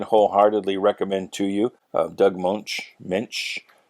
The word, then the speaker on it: Moench: Doug Moench, I don't know how to pronounce his name. It's Moench. He did the writing, I think, for the entire series.